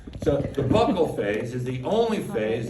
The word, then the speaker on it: buccal: face or buccal phase it sounds weird to call it buckle because it makes it sound like it's a belt buckle but it's technically a more per current pronunciation here here's the thing the